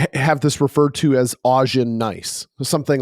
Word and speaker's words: Augen: I want to kind of touch on this again because the Augean or Augen, depending on how you want to pronounce it, that word is the German word for eye.